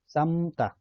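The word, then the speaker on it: 삶다: यसको चाहिँ र अनि मको चाहिँ म मात्र उच्चारण हुन्छ। जस्तै समता, समता भनेको चाहिँ उमाल्नु, यसमा पनि लको उच्चारण भएन, मको मात्र उच्चारण भयो।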